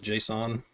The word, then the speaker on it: JSON: about Json files JS n that's how I pronounce it Json you may hear it pronounced another way but